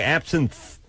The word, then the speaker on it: absinthe: and I do too it spells it smelled like absent yeah like you're absent from school but they say absinthe well th e at the end absinthe I didn't see it